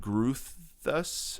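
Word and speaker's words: Groothuis: Uh it's called discovering biblical equality edited by uh Pierce and Guthus I think is how you say it.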